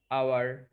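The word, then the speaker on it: hour: জানি, যে honest, অনার, আওয়ার, এর, মানে কি তোমার উত্তরাধিকার। তো এদের উচ্চারণে এইচটা কিন্তু সাইলেন্ট থাকে, দ্যাটস ওয়াই এদের আগে এ না বসে এন বসে।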